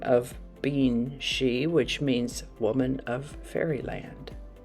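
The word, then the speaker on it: sidhe: end of the year today's word has an unusual pronunciation according to the way it's spelled it's pronounced she but it's spelled s-i-d-h-e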